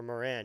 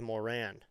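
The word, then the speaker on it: Morán: I'm going to just go with Moran because it's spelled M O R and then there's that fancy line over the A and then a Moran.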